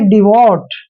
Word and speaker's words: devote: देखिए डी का उच्चारण हम डे करते हैं और ई का उच्चारण हम ई की मात्रा करेंगे। और वी को हमने वे पढ़ना है और ओ को ओ की मात्रा पढ़ते हैं। और देखिए यहाँ पर डी टी का उच्चारण हमने टे करना है, और जब भी लास्ट में ई आता है तो उसका प्रोनाउंसिएशन हम नहीं करते हैं, सीधा इसको पढ़ना है डिवोट।